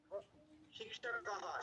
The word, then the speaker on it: शिक्षकः: আপনারা যদি আমাদের শিক্ষকः শেষে একটা বিসর্গ হবে, শিক্ষকः। शिक्षकः अहं শিক্ষকः এর পরে একটা হ বিসর্গ হবে।